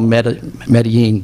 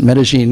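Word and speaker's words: Medellín: Chicago I was in Medellin which you may call Medellin but they actually pronounce it Medellin in Colombia two years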